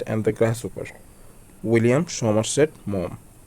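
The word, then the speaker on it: Maugham: William Somerset মম। বানানটা দেখবেন, উচ্চারণ মম হবে কিন্তু বানানটা হচ্ছে মঘাম।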